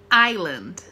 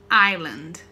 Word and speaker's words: Island: não é Airon Airon Aires ar a ilha Island Island não pronunciou é se tá gente Island site ou pés se coubesse não pronuncia o